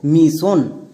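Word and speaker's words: mission: যেমন দেখো মিশন।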